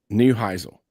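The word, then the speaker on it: Neuheisel: Newheisle.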